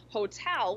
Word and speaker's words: hotel: make sure that you're saying hotel with the stress on the second syllable but something so many